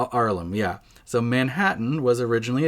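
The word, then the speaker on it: Haarlem: he was from harlem but the harlem with two a's arlem yeah so manhattan was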